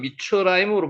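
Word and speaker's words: מִצְרַיִם: 두 번째가 미슈라임, 실제로 발음은 미추라임으로 발음이 납니다.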